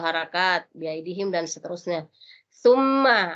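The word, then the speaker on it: ثُمَّ: Summa, ini cara penyebutan summa itu digigit di ujung lidah, tu. Summa, jadi bukan summa, bukan sin di situ, tapi ta.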